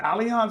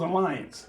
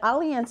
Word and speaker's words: Allianz: So that's how you pronounce it, Allianz or it was Alliance? No, it's Allianz.